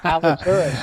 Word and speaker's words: Alitura: So tell us about Alitura. Did I say it right? You did. All right. Nice. Yeah, Alitura.